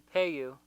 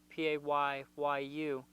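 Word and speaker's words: Paayu: It's It's also known as the Paiute. I believe it's how it's pronounced in Hopi, Payyu.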